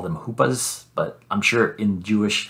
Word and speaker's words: chuppah: looking at the hoopa which is spelled c-h-u-p-p-a or c-h-u-p-p-a-h sometimes they leave off the sea it's not chupa it's it's hoopa and it is a